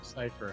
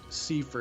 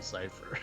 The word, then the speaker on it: Cypher: Cypher had. Or Cipher is actually how it's spelled out, but it's supposed to be Cypher.